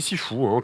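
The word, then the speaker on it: Sifu: peut-être joué à Shifu tu dis chou ça devrait se prononcer Shifu mais je ne sais pas moi je dis si fou comme tout le monde mais on peut on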